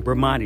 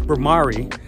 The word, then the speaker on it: Bhramari: I've been saying the name wrong, Bhramani. It's Bhramari.